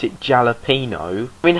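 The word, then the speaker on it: jalapeño: It's spelt with a J, but it's pronounced a H. Jalapeno, not jalapeno.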